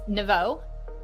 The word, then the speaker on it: Neveau: I know you asked me on the chat form to spell it phonetically and and I wasn't quite sure. It's Nau.